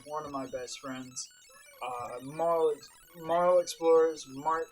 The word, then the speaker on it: marlEXplores: marlEXplores.